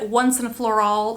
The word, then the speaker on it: Once and Floral: next is the shade once and floral spelled floral but like the phrase once and for all so that's how I say it like that this says